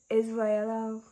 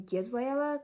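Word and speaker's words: Yisraela: Um, it's pronounced Israela. Oh, which you could hear me saying. Um, a lot of people pronounce my name Gizella cuz it has a Y at the beginning, but it's silent.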